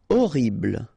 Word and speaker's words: horrible: Horrible. Okay, remember we don't pronounce H here. Horrible.